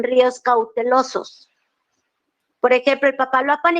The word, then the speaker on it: Papaloapan: de México Bravo Lerma uzuma cinta nasas Grijalva Papaloapan Coatzacoalcos Coatzacoalcos Wow cuatro impresionantes Coatzacoalcos yo lo pronunció bien Coatzacoalcos Wow y Papaloapan Papaloapan Ah